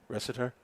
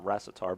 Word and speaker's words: Ressiter: That might be the first time I pronounce his name correctly. Ressiter? Yeah, because he also plays Class B. I think I'd call him Recitar before. Okay. Because that's like how it's kind of spelled.